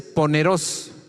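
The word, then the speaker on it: πονηρός: La frase toda clase de mal del mismo versículo 11, en el griego es poneros con acento en la O al final, y significa dirán toda clase de cosas perversas e inmorales de nosotros.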